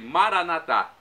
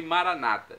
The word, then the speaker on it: Maranata: No aramaico, os católicos dizem Maranatá. Os evangélicos ou protestantes, nossos irmãos separados, dizem Maranata. Não importa a pronúncia. O significado é o mesmo.